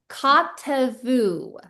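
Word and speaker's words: כתבו: And so it's not "voo". We're not saying the "v" sound of the vav, we're just saying "oo".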